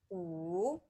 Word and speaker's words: 五: 五 Great. Guys, listen carefully. Amal did very well with third tone. It's very clear her pronunciation go down and go up.